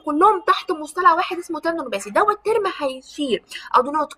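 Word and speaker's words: tendinopathy: هقول لك نطقها بالظبط عشان لازم تبقى عارف النطق بالظبط. تندونوباسي، تندونوباسي يا جماعه.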